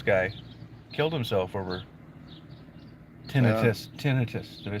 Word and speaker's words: tinnitus: the Texas Roadhouse guy killed himself over tennis tinnitus did I say it right yeah okay but